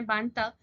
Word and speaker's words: Mbanta: ने ही इकमेफुना को मारा है, और ये बात सुन के वो एकदम गुस्से में आ जाता